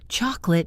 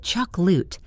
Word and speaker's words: chocolate: Chocolate, choc-lut, not choc-o-late. The middle vowel disappears into the schwa.